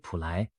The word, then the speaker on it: Plai: A mysterious Thai prophet named Plai ( pronounced Pu Lai in Thai) has recently attracted global attention with her predictions.